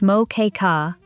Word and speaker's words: Moqueca: Moa, pronounced moka, is Brazil's most famous seafood stew.